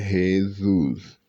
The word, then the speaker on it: Jesus: Jesus meu nome meu nome se pronuncia Jesus desculp ocasião de chamar